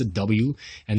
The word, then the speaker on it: Awan: Look, Awan shows you it's a W, and this is how it's always A's, man.